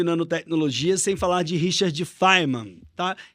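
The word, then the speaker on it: Feynman: sem falar de Richard fiman tá algumas pessoas pronunciam fean mas a Richard de faiman é um grande Pensador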